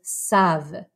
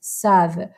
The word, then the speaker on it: savent: So we have je sais, tu sais, il sait, elle sait, on sait, nous savons, vous savez, ils, elles savent. Again, don't pronounce that ENT.